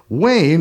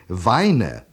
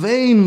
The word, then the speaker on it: Wayne: alien to Germany that everyone pronounces it Weine when they see it written. And the only way I can get it through to them how it's really pronounced is by saying, like John Wayne.